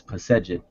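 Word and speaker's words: Pesedjet: They put an E between, as far as the vowels, between the consonants. So it's commonly pronounced as Pesejet.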